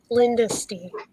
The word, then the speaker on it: Lyndisty: Like Mrs. Dynasty V. and Linda. Lyndisty.